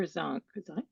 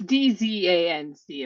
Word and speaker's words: Dzanc: Is it Zank or Zonk? Zank? I think it's Zank. I don't really know Okay. how to pronounce it. Well, it's Dzanc if anyone cares.